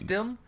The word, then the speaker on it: Dunn: Is it Alex Dunn? Yeah, but people keep saying Dune.